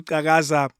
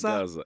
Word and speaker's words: Xhakaza: Ubabu Xhakaza, my Xhosa is terrible. Am I saying it right? You're saying it perfectly. Really? Yes. Xhosa Xhakaza. Xhakaza, exactly.